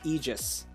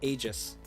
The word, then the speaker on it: Aegis: you, just like me, say Aegis because I feel like that's the correct way to say it. Even though I know that their video said Aegis, but you know. According to Google, we are correct. They are wrong.